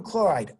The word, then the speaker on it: chloride: Magnesium oxide, sodium chloride, IDE, ends in "ide," rhymes with tide, rhymes with lied.